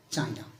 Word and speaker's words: Qin: from this Qin dynasty although there is q i n it is pronounced as chin so that is not known as Queen dynastic this is known